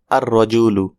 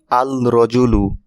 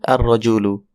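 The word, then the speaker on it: الرَّجُلُ: এটাকে ডেফিনেট করলে হয় আর রজুলু। এখানে একটু লক্ষ্য করুন শুরুতে আল যুক্ত হয়েছে কিন্তু লাম উচ্চারিত হয়নি। অর্থাৎ আল রজুলু না হয়ে লামকে স্কিপ করা হয়েছে। অর্থাৎ উচ্চারণ হবে আর রজুলু।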